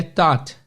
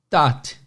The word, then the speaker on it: taught: Eu sempre falo que esse A-U-G-H ou esse O-U-G-H no meio de palavras tem um som do O, de ópera, né? Então, visualiza a palavra aí, pessoal. T-A-U-G-H-T. A pronúncia é simplesmente T-O-T, taught.